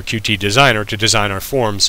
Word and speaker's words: Qt: with QT designer or cute however you pronounce it there are two different ways a lot of people say cute uh I say QT who cares anyway uh